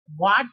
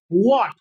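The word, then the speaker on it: what: के बारे में कि ये वाट नहीं है, हाँ तेरी वाट लगा दूंगा, वैसा नहीं है ये है व्हाट। क्या है? व्हाट। एक बार बोल करके देखिए, वाट नहीं, व्हाट।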